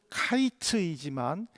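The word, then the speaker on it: קַיִץ: 즉에 히브리어로 여름 과일은 카이츠이지만 끝은 캐츠입니다. 하이츠와 캐츠라는 비슷한이 발음으로 인해서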